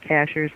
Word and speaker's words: Cashiers: like cashiers it is it is but they pronounce it Cashers that's right it's a high mountain community that